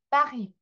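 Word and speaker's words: Paris: 전부 빠리라고 발음하고 사실은 제대로 하자고 하면은 빠히 이렇게 발음이 나겠죠?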